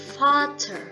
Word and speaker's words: Vater: Nah, V ini kalau dalam kata itu dia lebih dibaca seperti F. Contohnya Vater, yang artinya ayah atau father.